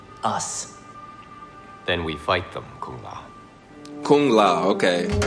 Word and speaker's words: Kung Lao: Then we fight them, Kung Lao. Kung Lao, okay. Pronounce it right. This is his name. Respect that man. Kung Lao. Not Kung Lao. Kung Lao. With the G. Don't leave out the G.